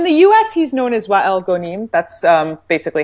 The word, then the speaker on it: Wael Ghonim: he's known as Wael Ghonim that's basically how it's pronounced here it's for that's a little bit